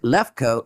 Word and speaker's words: Leuco: By the way, Leuco, if you pronounce it Lefko, it means white.